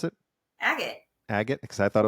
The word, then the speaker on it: Agate: the firm name is Agate CPA. How do you Um, pronounce it? Agate.